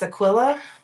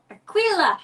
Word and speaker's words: Aquila: does that next oh I'm probably not going to pronounce this right it's spelled AQ i l a I think it's Aquilla Aquila Aquila something like that A Cut Loose press